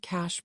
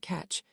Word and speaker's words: cache: His use of the word cache puzzled me for a moment, as Hep pronounced it catch, but his real meaning occurred to me almost at once.